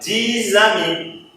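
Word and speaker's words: dix amis: Então, o 10 diante da palavra ami, ele não vai ficar mais dis, ele vai ficar dis-ami. Dis-ami, já é dis-ami. Pessoa solitária, né, que fala essa frase, que tem 10 amigos. Poucos amigos, né? Mas isso é então o som do Z. Então, dis-ami. Então, S vira Z.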